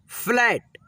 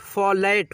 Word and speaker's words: फ्लैट: ठीक है, पक्षी, सख्त, फ्लैट, फ्लैट, फॉलेट, फॉलेट नहीं पढ़ेंगे, फ्लैट ऐसे, बच्चा, बल्ला, बल्कि, बच्चे, बस्ती।